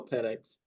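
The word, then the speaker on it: Penix: no you got to trust we're getting Michael penex hey you said it right this time we're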